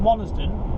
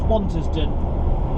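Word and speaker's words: Wantisden: I've then run down to we pronounce it Wantersden. It's Wantersden is how it's sort of spelt.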